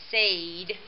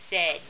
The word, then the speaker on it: said: exactly the right pronunciation it sounds like sayed if we follow the rule but actually in this word the correct pronunciation is going to be said and that kind of